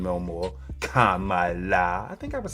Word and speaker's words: Kamala: So it's Kamala. I get it. All right. Respect. Won't mess up that name no more. Kamala.